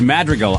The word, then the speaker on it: Madrigal: the time and I I don't care it's Madrigal I m I say it wrong you say your own last name wrong I do uh the uh Montreal comedy